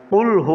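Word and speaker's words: قُلْ: যেমন সূরা ইখলাসের ভিতরে ভুল করে ফেলি আমরা কুলহু হবে আমরা পড়ি কুলহু কুলহু পড়লে কাফ দিয়ে উচ্চারিত হয় কুলহু উচ্চারণটা হবে কুলহু কফ দিয়ে তাহলে অক্ষরটি উচ্চারণ পরিবর্তন হয়ে গেলে পর অর্থ পরিবর্তন হয়ে যাবে।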